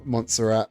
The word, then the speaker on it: Montserrat: Montserrat, that's how it's pronounced. I keep putting I put extra syllables into them.